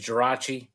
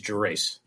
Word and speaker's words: Gerace: Well, the Italian way is Gerace. The American way is Gerace.